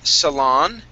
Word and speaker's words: salon: Okay, let's go to the word salon. Okay, stress at the end of the word.